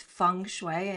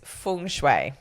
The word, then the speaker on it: feng shui: saying it which is fung shway and it sounds like fun, like it's a fun way to work with Jane. Haha, I like that. So, the the correct pronunciation though is feng shui.